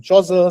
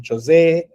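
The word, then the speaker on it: Chaucer: Now there are different ways his uh surname gets pronounced. Some people call him Choza. Some people call him Chose because there's a little bit of the French in it.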